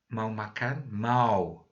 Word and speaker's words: mau: Mau. Beautiful word. Say it like German mau, to want or to plan to do something.